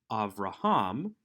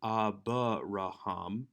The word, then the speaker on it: Avraham: a dot in it if it is a colon under a letter after a short vowel it is silent and you would only pronounce the consonant under which the colon appears thus avraham has the colon underneath bait or the schwa underneath the bait so it's not abba raham but hopefully this